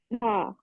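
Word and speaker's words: ه: Ha. Yeah, the ha is going to be more deeper. Let the air go inwards.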